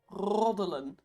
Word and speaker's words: roddelen: Gossip in Dutch is, and this is the verb gossiping, is roddelen. Roddelen. It's a great word to roll your R's.